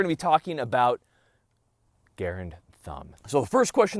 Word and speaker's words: Garand: and he asked that his preferred way of his name being pronounced was Garand as in errand so I want to